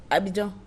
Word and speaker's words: Abidjan: How do you pronounce Abidjan? Côte d'Ivoire. No, yeah. Abidjan.